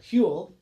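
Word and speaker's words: Whewell: a guy named william hewell you'll never know how to spell his name he's one of those great english names that you can't tell how to spell from the way it's pronounced w-h-e-w-e-l-l huell anyway william hill invented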